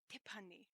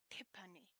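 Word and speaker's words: 티파니: in english and in korean my name is pronounced tipani tippani you are almost there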